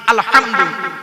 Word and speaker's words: আলহামদুলিল্লাহ: আলহামদু, এই গলার ভেতর থেকে হেটা উচ্চারণ করবেন। বাপেরা হাতে ধরে বলে যাচ্ছি, আলহামদুলিল্লাহ মানে হচ্ছে সমস্ত প্রশংসা আল্লাহ তোমার।